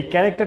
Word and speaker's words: char: যদি আমরা উচ্চারণ করবো ক্যারেক্টার, বাট লিখবো CHAR এবং তারপরে একটা ভেরিয়েবল, তাহলে এটাকে বলা হচ্ছে ডাটা টাইপ CHAR।